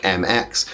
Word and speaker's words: Mx: But if they're not, they might want to change to a title like MX, pronounced either like MX or like MX.